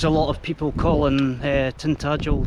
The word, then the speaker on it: Tintagel: She hears a lot of people calling Tintagel Tindigal.